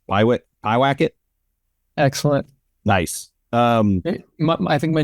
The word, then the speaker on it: Pyewacket: And I was wondering kind of how has your workflow changed between 2017, you shot, how's it pronounced? Pyewacket?